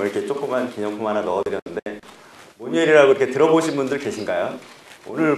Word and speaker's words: 모뉴엘: 모니엘이라고 지금 사실 그 미국 외국 사람들도 이 글씨를 모니엘이라고 잘못 읽습니다. 왜냐하면 합성어기 때문에 못 읽는데요. 미국 그 사람들은 마뉴엘이라고 조금 있습니다. 근데 한국 발음으로는 저희가 모니엘이라고 하는데요.